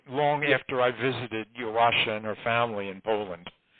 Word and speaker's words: Joasia: Yeah, let me correct your pronunciation a bit. Joasia. Now, her real name was Joanna, or Joanne, but nobody called her that. Joasia is the diminutive form. It's like Joni for Joanne. So it's Joasia.